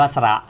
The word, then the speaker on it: สระ: สะ อ่าน ว่า สะ ทำไม ไม่ อ่าน ว่า สะ เพราะ เรียน ไป แล้ว นะ ครับ ศรส.